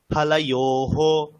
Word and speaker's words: ফলয়োঃ: ফলস্য ফলায় ফলানাম, হ্যাঁ, আবার ফলস্য, ফলয়, ফলানাম, উচ্চারণটা ঠিক হচ্ছে না, একটু আমি একবার বলি। ফালাস্য, ফালায়োহ, ফলানাম। ফলস্য, ফলয়োঃ, ফলানাম, হ্যাঁ, ঠিক আছে। ফলস্য, ফলয়ঃ, ফলানাম। ফালায়োহ, উন্তস্ত যায় ওকার, ফালায়োহ।